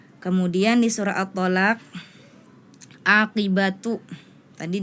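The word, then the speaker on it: عاقبة: attagabun kholidina bukan kholidaini kemudian di surah attalaq aqibatu tadi dibacanya aibati ya kemudian di surah at-tahrim ayat ke6 La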